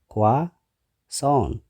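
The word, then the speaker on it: croissant: ዘለና ማለት እዩ። ታሻዓይ ክዋሶን ብዙሓት ሰባት ክሮሳንት ዝብልዎ ወይ ከዓ ክሮሰንት እውን ዝብልዎ ክዋሶን ክልተ ሲለብል ኣለዎ ክዋሶን ኣብቲ ካልኣይ ሲለብል እቲ ስትረስ ስለዚ ክዋሶን። ዓስራይ ቾኮሌት ብዙሓት ሰባት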